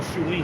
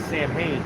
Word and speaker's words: Samhain: And that's what you call Shuin. It can be pronounced like Samhain, Yes, sir.